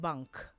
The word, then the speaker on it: bank: also sounds very different so ng is um like i said you don't really finish it in your throat so it's um and nk is ink so bang and bank bang and bank bang